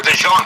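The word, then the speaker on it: DeJean: Cooper Dejon. That rhymes with Valene, the main character in uh Victor Hugo's Lay Miser Rob.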